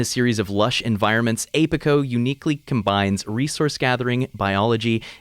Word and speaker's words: APICO: look today into apico apico at least i think it's pronounced apico as in apiary apico apico all caps